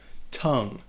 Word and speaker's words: tongue: First off, it only has one syllable. And that O sounds like a U, tongue. And it would rhyme with words like sung or rung or tongue.